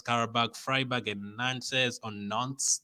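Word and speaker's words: Nantes: freiburg and nancy's on nonce that's how you're supposed to pronounce it and group h um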